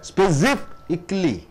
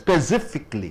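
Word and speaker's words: specifically: அப்ப ஸ்பெசிஃபிக்லி, ஸ்பெசிஃபிக்லி 4 sound. சிஃப்க்கு அழுத்தம் கொடுக்குறீங்க. ஸ்பெசிஃபிக்லி, ஸ்பெசிஃபிக்லி.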